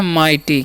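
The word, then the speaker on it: mighty: तो लिखा हुआ है यहाँ पर MIGSTY, तो इसे हम पढ़ते हैं माइटी। क्या पढ़ते हैं जी, माइटी। यहाँ पर भी GS साइलेंट होता है, ठीक है।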